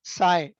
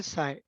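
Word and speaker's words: psi: साई। इसको कैसे डिनोट करते हैं? पी एस आई, साई represent, और यू can pronounce as ए साई।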